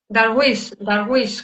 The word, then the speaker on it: Darwish: Darwish, con acento en la I, o sea, con sílaba tónica, vale, a tres voces, ¿no?